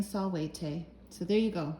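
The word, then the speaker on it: salvete: to my attention that solute is the proper way to say hello to a group so since this video is intended for more than one person to watch i ought to be saying solwayte so there you go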